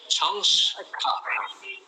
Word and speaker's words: সংস্কার: এটা হবে একটা স বলতে হবে তোমাকে, তাহলে সংস্কৃত, সংস্কার, এটা মনে রাখো। একবারে সংস বললে তারপরে কৃত বললে, একবারে সংস বললে তারপরে কার বললে, যে সংস্কার বলতে বলতে অভ্যেস হয়ে যাবে।